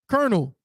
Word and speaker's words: colonel: it shows when it shows you like the pronunciation it uses colonel like look so here I have the dictionary